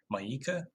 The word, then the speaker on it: Mieke: One thing to point out from the questions is that the dating coach Mika, it's spelled Mieke, Maika.